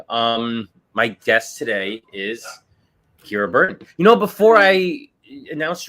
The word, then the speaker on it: Kira Burton: basis but anyway um my guest today is Kira Burton you know before I announced you I I should have asked how you pronounced your name did I get it right